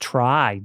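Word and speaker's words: Tri: Um, also games that I think deserve a perfect score, Monster Hunter Try on the Nintendo Wii, uh, aka Monster Hunter 3, but it's pronounced try.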